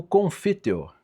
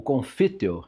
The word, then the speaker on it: Confiteor: E se dá justamente no Confiteor. Eu estou botando acento na palavra em latim, mas o latim não tem acento não, tá? É só para facilitar a sílaba, né? O Confiteor, né?